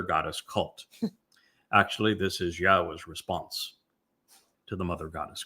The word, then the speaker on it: Yahweh: Now, imagine the single most important discovery that I made along the way is to prove that Yahweh's name, YHWH, is pronounced Yahweh.